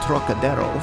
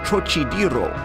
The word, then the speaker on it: Trocadero: That peculiar throaty aspirate the Frenchman gives to the first syllable, as though it were spelled Terroc, is utterly beyond the Chinese, and beyond the American too, whose idea of the tonsillar aspirate leads him to speak of the trochidero, naturally falling back upon